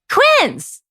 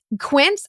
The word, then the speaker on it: Quince: Quince.